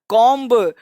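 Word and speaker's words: comb: अब ऐसे लोग बी है तो बी पढ़ना पड़ेगा, लेकिन कॉन्सेप्ट कहता है कि एम के बाद, देखो एम के बाद और एम के बाद बी, कौन सा वर्ड? बी प्रायः साइलेंट होता है।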